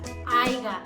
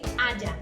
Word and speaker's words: haya: dijiste se lo lleva la palabra aiga, que no existe. Lo correcto sería decir haya. Y al momento de escribirlo se escribe con H-A-Y-A.